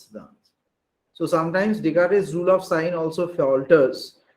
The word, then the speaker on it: Descartes: See, I am writing Descartes, S is silent actually.